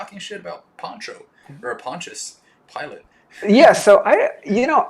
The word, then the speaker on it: Pontius Pilate: who's he pontius pilate pontius pilot so i i think it's spelled like pilates but without the s but it's pronounced pilot and i don't know